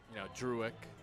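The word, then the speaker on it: Drewek: He's not the easiest for people to pronounce. It's, Druick, D-R-E-W-E-K, but he's not the most mistaken on the Ballers.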